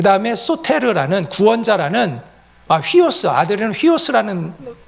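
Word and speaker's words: υἱός: 그 다음에 이에오스, 그 다음에 소테르라는 구원자라는, 휘오스, 아들은 휘오스라는 고 발음을 하고, 그 다음에 소테르라는 구원자라는 이 하나하나의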